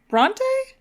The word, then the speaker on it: Bronte: Bronte? That's how you say it? Bronte.